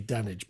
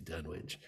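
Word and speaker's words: Dunwich: There's, you know, uh there's rules to what you can say, but yeah, they would probably say Dunage, but no, it's it's obviously Dunwitch.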